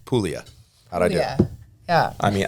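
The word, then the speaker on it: Puglia: employees do you speak Italian no cuz your pronunciation was on Point pulia yeah yeah doesn't seem like it's that hard to pronounce pulia I do yeah I mean I don't speak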